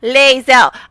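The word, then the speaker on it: Lae'zel: Even though they say it in the game, people cannot seem to pronounce Leel. Even though people say it in the game, but I guess the people who can't pronounce her name just play the game and mute. I don't know. But it's Leel.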